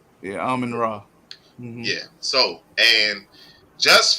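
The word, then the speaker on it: Amon-Ra: Ain't that how you pronounce his name? Yeah, Amon Ra.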